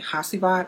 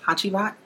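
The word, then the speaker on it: Hacivat: The pronunciation, I heard people say Hasivat, also Hachivat. I heard it pronounced that way as well.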